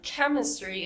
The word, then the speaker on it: chemistry: the sh and then like in the word chemistry it makes a c sound so whenever we see